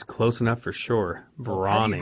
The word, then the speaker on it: Brauning: Brauning. How would you pronounce your name? Well, it's a big question. It's spelled B-R-A-U-N-I-N-G, so it's Brauning, like German, but it's hard to say that over the radio wave.